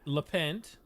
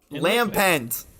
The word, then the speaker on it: Lampent: Chand oh my God and lent Lampent it's not like it's l a apostrophe P NT stop trying to make things